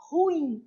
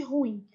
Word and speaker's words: ruim: Lembrando que a pronúncia correta é ruim, não existe ruim. A gente até fala, né? Nossa, isso é muito ruim. Só que o certo é isso, é muito ruim, beleza?